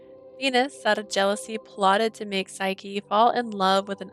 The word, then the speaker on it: Psyche: this correctly because push here's the thing you can't put PSY and not me say Sai it's just how I go like my name's psycho